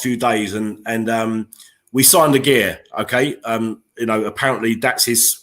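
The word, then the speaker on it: Aguerd: days, and we signed a gear, okay? Apparently that's his correct pronunciation. It's a gear. You don't pronounce a D, okay? So we signed a gear from Rennes, and I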